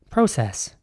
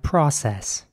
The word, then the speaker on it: process: spelled p-r-o-c-e double s in British English this would be pronounced process instead of the unfreezing process and in American English it would be more like process with an R sound process we're starting a